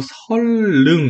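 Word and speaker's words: 선릉: 우리 유음화 대충 아니까 한번 해보면 자 원래는 이거 설능 이렇게 발음해야 되고 지하철 타봐도 이렇게 LL로 표시가 돼요. 설능 이렇게 발음하는데 우리 영어 발음을 본다면 로마자 표기를 본다면 근데 사실 보면 이거 제가 봤을 때 선능이라고 발음해도 사실 상관없는 것 같아요.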